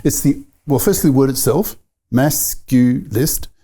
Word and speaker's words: masculist: Because, I guess it's the firstly, the word itself, masculist. It's not masculinist with 4 syllables. No, it's just 3.